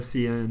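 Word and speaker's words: cin: were like English speaking since birth you say c yeah and they're very defensive of it yeah really yeah like and sin instead of CN but but I mean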